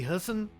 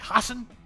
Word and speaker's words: Hassan: be watching Democratic incumbent Maggie Husson I can't say your name right I can't say it right Maggie Hassan and a [ __